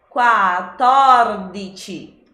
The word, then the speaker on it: quattordici: Já com a minha consoante dupla ali, a primeira parte, que é o primeiro T, quat, quat. Depois eu tenho a sílaba torra, torra, e o meu sufixo dite novamente. Então, quattordici, quattordici. O acento então vai no tor.